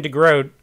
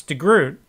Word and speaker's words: de Groot: name D-E space G-R-O-O-T, which in English, of course, we would pronounce de Groot, because G-R-O-O-T, O-O-T would be root, like R-O-O-T is root. So for 50 years, I've pronounced his name de Groot, and I've even written